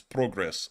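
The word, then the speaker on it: Прогрес: Or Progress for the most part. That's actually how it's said in Ukrainian, is Progress.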